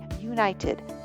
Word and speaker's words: united: The article a would be used in front of words like united, university, and unique because they are all pronounced with the U sound of the consonant Y.